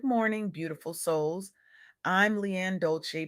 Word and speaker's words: Dolce: I'm Leanne Dolce, pronounced dol-say, like sweet softness whispered in French.